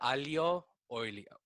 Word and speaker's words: aglio olio: No, pasta aglio olio.